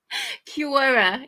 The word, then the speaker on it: Cure: It is Cure. Like somebody who queues. Somebody who's in a queue is a queuer.